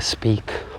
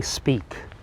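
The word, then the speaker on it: Speke: is in fact the speak Memorial spelled s-p-e-k-e you may have pronounced that incorrectly and speak was a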